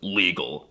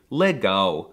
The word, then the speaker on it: legal: weren't calling him Lauren the L is also quirky because it's often pronounced as a w like in the word legal well it looks like it should be pronounced legal but it's actually let